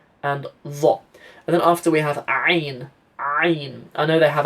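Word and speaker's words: عين: Somalia, but you know, Ain is pronounced from a bit further back. Yeah, if you put your fingers on your throat like that, you should hear the you should feel the vibration. Ain.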